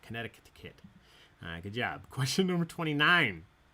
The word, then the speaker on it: Connecticut: There's an extra C in there. I'm not sure how to say it. Connecticut.